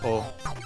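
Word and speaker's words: を: use of the um oh particle you'll sometimes see it romanized as w-o which reflects how like it's written in kana but the thing about it is um it's pronounced oh um it marks the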